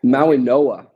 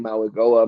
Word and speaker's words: Mauigoa: Maui Noah. Maui Noah. It's pronounced with like an N. I was surprised to see that on the pronunciation chart. I've been saying Mauigoa myself all off season, obviously incorrectly now.